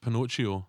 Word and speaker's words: Pinocchio: Well, actually, it's pronounced Pinocchio in Italy, which is where they're filming that film, Alan.